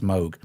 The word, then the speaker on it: Moog: Bob Mogan many PE every time I say moo someone says you know please pronounce it correctly it's Moog and I agree however even Moog the company or MOG the company if you like use the word moo as well I mean